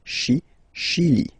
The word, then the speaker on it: Chili: Okay, remember, C-H, sh. Okay, Chili.